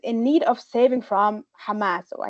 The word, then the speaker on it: Hamas: And colonial feminism depicts Palestinian women as helpless victims in need of saving from Hamas or I guess I should say kamas, right, which is um the Hebrew pronunciation of Hamas.